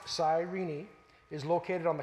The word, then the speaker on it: Cyrene: bit about about Serena and the sirenians it's pronounced Cyrene II is located on the continent of Africa